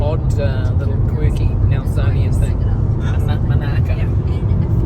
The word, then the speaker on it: Monaco: the history t coming it's called monacco people call it monacco it's named and spelled like Monaco but it's but everyone calls it Mano okay it's like a odd little quirky naian thing manaco you say Monaco people